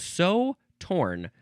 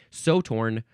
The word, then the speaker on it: Sew Torn: It is called So Torn, but so is spelled S-E-W.